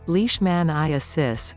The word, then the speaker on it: leishmaniasis: blood transfusions what is leash maniasis in dogs pronounced leash man i assist and also known as kennel canine leishmaniasis as